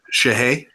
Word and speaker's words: Shohei: I'm sorry, how do you pronounce the first name again? Shohei Ohtani.